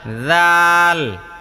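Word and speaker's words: ذال: জাল জাল শোনেন জাল জাল হ্যা শোনেন আমি বলি আপনার এখানে জালের উচ্চারণটা হচ্ছে না জাল উচ্চারণ করতে জিহবাটা একটু বের করতে হবে কিসের থেকে দাঁত থেকে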